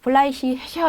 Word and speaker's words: fleißiger: 네, 보통 이렇게 이게로 끝났을 때 이씨 이렇게 읽는데 뒤에 모음이 오면 다시 그 발음이 살아나요. 그래서 fleißiger 이런 게 아니라 fleißiger 이렇게 해주시면 되고요.